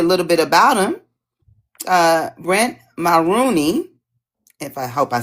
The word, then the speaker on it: Mulrooney: Just help me with the last name just so I make sure I said it right. Mulrooney. Mulrooney. Okay, I did.